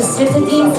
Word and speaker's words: Citadines: Citadines. Rhymes with sardines.